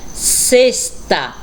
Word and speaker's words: sexta: Observem a pronúncia da palavrinha sexta. Realmente, nós falamos com o som do S.